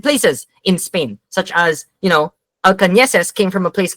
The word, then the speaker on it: Alcaneses: People don't know how to pronounce my last name because it has an Enya, which is a special character in Spain. and my last name is Spanish. It's Alcaneses. It's pronounced Alcaneses.